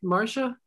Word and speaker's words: Marcia: nice to meet you am i pronouncing your name right marcia yes marcia it's actually two names